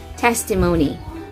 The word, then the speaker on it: testimony: of that word is testimony again that word is pronounced as yes testimony it's not testimony but testimony the stress is in the first syllable testimony now we are